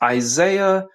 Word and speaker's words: Isaiah: Hey Brad, just in case if you got my name wrong, my name is pronounced Isaiah.